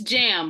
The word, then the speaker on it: Jam: Is it Jam or is it John? How do you pronounce? Who, me? Yes. It's Jam, because I have a Jam.